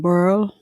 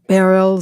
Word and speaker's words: Beryl: the aftermath of Hurricane Beryl, or Beryl, some people say, it's a kind of tricky pronunciation there, but we all understand that this is a tumultuous storm.